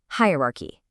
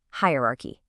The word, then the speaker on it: hierarchy: Hierarchy. One more time. The mistake. Hierarchy. But you probably know the rule by now, right? The correct ending is a key sound. Let's listen. Hierarchy.